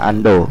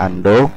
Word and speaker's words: undo: undo the last browing ya bacanya Ando yang tulisannya Ondo bacanya Ando Ando jelas throwing ini fungsinya